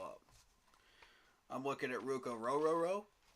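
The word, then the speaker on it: Orhorhoro: I'm looking at Ruko Rororo. And yes, that is how you say his last name. Orororo.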